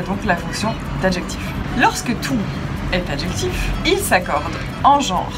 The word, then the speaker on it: toutes: Les formes féminines, toutes au singulier ou toutes avec un S au pluriel, sont toutes les deux prononcées toutes. On entend le T final.